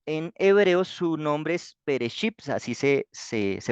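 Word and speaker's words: בראשית: Listo, entonces vamos a Génesis 1, 2 y 3 y este libro en hebreo su nombre es Bereshit, así se pronuncia, digamos como está escrito ahí en el principio y aquí está en la parte de abajo su escritura.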